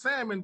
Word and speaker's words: salmon: I won't it's pronounced salmon but they got an L after the a like now they they